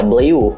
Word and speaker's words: Bleu: Bleu, bukan Blue ya, Bleu.